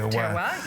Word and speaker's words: terroir: That's right, terroir, yes.